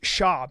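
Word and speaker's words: Schaub: Where's Brendan Schwab [cough and clears throat] from? It's Sha. You have to say his name right.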